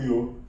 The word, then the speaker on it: yoga: So the core of our model is from yoga to yoga.